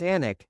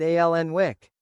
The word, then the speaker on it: Alnwick: When we started the Anik Garden, no journalist could pronounce Anik, they all said Alnwick.